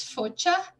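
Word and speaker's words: Focia: and her nickname was Focha. That's kind of pronouncing it with like a little bit of a Polish accent, but I'm just going to call it Focha to be more simple.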